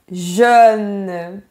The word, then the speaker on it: jeune: C'est le mot jeune. Très bien, super. C'est un mot difficile pour les étrangers, ça. Hein? Ouais, c'est vrai. Jeune. C'est bien vertical.